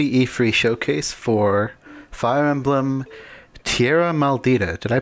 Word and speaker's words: Tierra Maldita: showcase for Fire Emblem Tierra maldita did I pronounce that right yeah it's actually uh well I guess it's close it's actually uh Spanish so it would be pronounced Tierra Martita but I can't quite